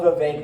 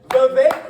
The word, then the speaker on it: Vivek: He says it rhymes with Jake, and I appreciate that.